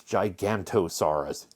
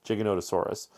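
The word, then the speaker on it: Giganotosaurus: Now, this one over here, this is Jiggonotaurus. People always wrongly pronounce this Gigantosaurus. Gigantosaurus. Nope. Jiggonottosaurus.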